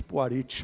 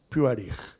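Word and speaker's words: Puharich: Para alguns, Puarites, mas está no mesmo. A pronúncia mesmo é Puarich.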